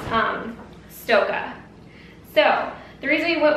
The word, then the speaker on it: Stokke: this wrong I want to just call it stoy at first but when I looked it up it's actually pronounced um Stoka so the reason we went with Stoka is